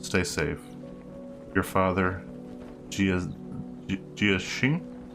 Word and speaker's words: Xing: Your father, Jia Xing? I think that's spelled Xing, not like Zing.